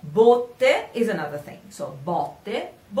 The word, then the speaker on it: botte: So botte. Two different meanings and two different pronunciations, but written the same thing, B-O-T-T-E, same thing in Italian, but different meanings, different pronunciations.